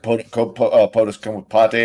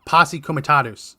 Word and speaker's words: Posse Comitatus: POTUS Comitatus or whatever? How do you pronounce that? Yeah, Posse Comitatus.